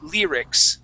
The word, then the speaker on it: lyrics: this why in this word the y makes an e sound we say lyrics lyrics Just how Nicholas had